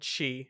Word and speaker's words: Qi: So basically, there's this thing called Qi, it's spelled QI, and it's a wireless charging standard.